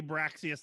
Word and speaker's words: Braxius: So it should be Braxius, not Barxius, Yes.